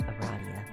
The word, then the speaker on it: Aradia: It's pronounced Aradia.